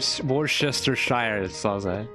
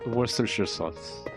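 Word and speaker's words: Worcestershire: Worsters wor I remember that I used to pronounce it worchester but now it's pronounced worers worersher sauce worersher sauce worersher sauce.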